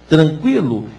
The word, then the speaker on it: tranquilo: passou a ser linguiça tranquilo é tranquilo com o tema EA tranquilo sem trema todos os temas da